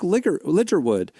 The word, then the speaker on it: Ligertwood: And she was like, "And then just go and pre-order my album and put in promo code Brooke Ligerwood."